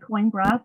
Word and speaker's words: Coimbra: Then we head south to the university city of Coimbra. Looks like Coimbra, pronounced Coimbra.